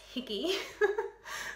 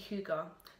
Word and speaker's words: hygge: year it's a Scandinavian concept and I was pronouncing it as higgy for quite some time until my husband who did a um Gap here in Denmark when he was 15 told me that it's actually hugar so yeah I was saying it for so